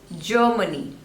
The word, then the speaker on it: Germany: Next is Germany, Germany. So 3 syllables and stress is on the first one.